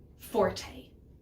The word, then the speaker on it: forte: loud nice and strong we call that forte it kind of sounds like the word force there's a good little